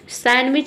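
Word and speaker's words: sandwich: सैंडविच इसे बोलते हैं, सैंडविच नहीं बोलते हैं, सैंडविच मतलब सैंडविच।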